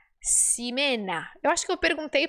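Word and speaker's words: Ximena: qual ela falou que o nome dela se pronunciava simena eu acho que eu perguntei para ela qual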